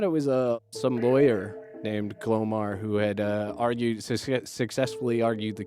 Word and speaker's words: Glomar: JEFF LARSON: Glomar is G-L-O-M-A-R. ROBERT: Glomar. JULIA: What did you think just of the word? JEFF LARSON: I thought it was—I thought it was some lawyer named Glomar who had argued—successfully argued the case, because it